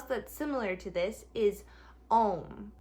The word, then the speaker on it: Om: The most correct way to pronounce it is A-U-M, which is A-U-M. It starts in your belly, so A is down here, ah, and then is up here in your chest.